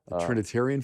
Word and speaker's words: Trinitarian: My uncle was had baptized me in Trinitine. I'm saying it wrong. Trinitarian formula? Yes, that's right.